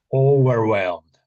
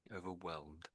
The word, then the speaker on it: overwhelmed: Overwhelmed. Overwhelmed. Overwhelmed. Yeah, pretty much. Pretty much. So, overwhelmed. Overwhelmed. Over overwhelmed. Yeah. So, here just to be awkward. I suppose you could say the H is silent really.